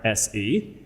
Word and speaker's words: hoarse: So it turns out in English we have two words that are both pronounced horse. One is horse, and that's the animal that you are familiar with. The other one is hoarse, and that kind of horse is when your voice isn't working very well.